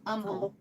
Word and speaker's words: Humble: And just like the the the town or city humble is pronounced umble with no H.